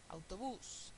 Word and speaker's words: autobús: que ponerle la tilde autobús aú palabra aguda el estrés está en la última sílaba termina en s y hay que ponerle